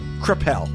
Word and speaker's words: Kreppel: Is it Kreppel? Yeah, you said it right.